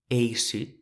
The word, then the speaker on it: eissut: voilà nos possibilités : Remarquez la différence de prononciation entre le EI, qui est très fermé, comme dans "eissut" (sec) et le ÈI, qui est très ouvert.